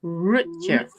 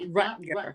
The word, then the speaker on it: Rutger: Rutger Hauer pronounced his name Rutger. It's Germanic, I believe, for Richard or Roger. So it's Rutger Hauer. It's not Rutger, but I think, like Mark, most people just give up and say Rutger.